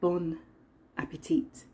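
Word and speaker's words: bon appétit: it or is it bon appetit i don't think you pronounce the last consonant in the french language tell me in the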